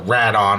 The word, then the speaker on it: Rodan: I am missing the nameplate that would read Rodan and reference the movie Rodan, or Radon, I guess I should say, seeing it's written in Japanese, and that's the Japanese pronunciation and spelling.